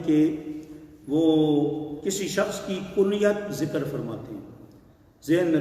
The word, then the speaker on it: کنیت: وہ کسی شخص کی کنیت ذکر فرماتے ہیں. ذہن میں رکھیں لفظ صحیح ہوتا ہے کنیت، اور اس کو لوگ کنیت پڑھتے ہیں، غلط تلفظ ہے۔ تو امام ترمذی نے